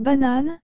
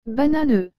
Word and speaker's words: banane: exemple dans le mot banane que je viens d'écrire au tableau le e à la fin ne se prononcent pas donc il faut dire banane et non banane eux par contre si la